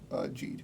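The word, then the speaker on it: Geed: How's it what pronounced? Is Ginga it was. Geet or Jeed? Jeed.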